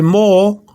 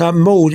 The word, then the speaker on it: moho: So, although it says moho with an H, the H is not pronounced, so it's mo.